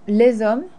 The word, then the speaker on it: les hommes: We saw with des hommes, same thing applies to les hommes. Homme technically starts with the vowel because the H is silent. So, les hommes, les ordinateurs, ordinateur starts with an O.